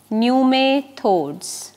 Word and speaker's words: pneumatophores: pneumatophores these are called nume thoughts p is silent so they bear abundant